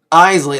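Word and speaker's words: Eisele: It's spelled weird. Isley, that's E-I-S-E-L-E, but it's pronounced Isley.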